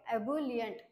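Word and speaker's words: ebullient: बघूया next word आहे तर याच प्रोनान्स कस करायच आहे अबलियंट अस प्रोनन्सशन आहे या स्पेलिंग काय आहे अस प्रोनान्स करायचं ओके याचा मिनिंग काय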